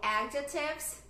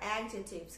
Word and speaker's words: adjective: Só que em inglês, a primeira sílaba que é a sílaba tônica. Então, eu falo adjective, adjective.